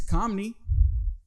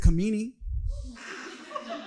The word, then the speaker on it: Kamini: Like my mom's name, her name is Kamini, but everyone pronounced it Kamini.